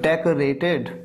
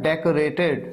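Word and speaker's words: decorated: डेकोरेट करना कहते हैं तो डेकोरेटेड थर्ड फॉर्म इसे गलत प्रोनाउंस नहीं करना है। इसे ये नहीं कहना है डेकोरेट डेकोरेट नहीं को नहीं क अ का साउंड आता है डेकोरेटेड सजाया हुआ एग्जांपल उसका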